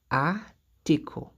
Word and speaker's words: article: On voit aussi la présence de CLE à la fin de ce mot. Et on a dit que si un mot se termine par CLE, le CLE se prononce comme co en français. Se prononce comme co. Donc, ça va être article.